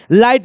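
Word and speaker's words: light: मैं क्या बोलता हूं लाइट में पढ़ो एल के बाद आई है और आई के बाद जीएच है और मैंने बोला आई के बाद जीएच रहेगा जीएच टी रहेगा यहां भी देखो जीएसटी है तो हमको क्या करना है इस जीएसटी में जीएच को साइलेंट करना है तो जरा बोर्ड पर ध्यान दो मैं इस जीएच को साइलेंट कर दिया जी एच को साइलेंट कर दिया मैं सब वर्ड में जीएच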